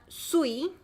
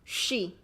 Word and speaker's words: 쉬: Like English, she is my mom, she.